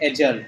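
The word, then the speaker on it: adjourn: चलो अब आते हैं एजर्न। एजर्न में डी साइलेंट होता है।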